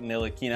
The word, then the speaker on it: Ntilikina: Nina that's a name we can all Now Pronounce as Frank nilina I'm going to break this down into into